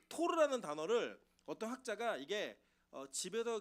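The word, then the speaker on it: תור: 최근에 어떤 학자가 이 비둘기라고 하는 게 보면은 이 산비둘기랑 집비둘기로 오늘 기록되어 있는데 이 산비둘기는 히브리어로 토르라 그래요. 토르. 여러분 그 마블에 나오는 토르 아시죠? 똑같아요. 발음이 토르예요. 그리고 여러분 집비둘기는 여러분이 아는 단어예요.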